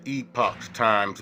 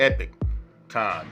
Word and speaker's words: Epoch Times: you would pronounce it saying you know the epochs times but it's really pronounced um as the uh the epic time so um correction on that my good people uh